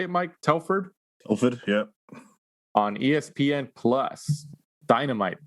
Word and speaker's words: Telford: Telford, yeah.